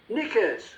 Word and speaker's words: knickers: Silent K. Knickers. Part of your underwear. Knickers.